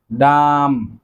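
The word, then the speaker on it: dumb: যারা কথা বলতে পারে না, বোবা, তাদেরকে বলা হয় ডাম, ডাম। এখানেও বি এর উচ্চারণটি কিন্তু সাইলেন্ট থাকবে।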